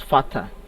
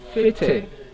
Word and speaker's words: fete: The underlying letter in this word is the first letter A, and by pronunciation, people pronounce it as fata, but the correct pronunciation is fete.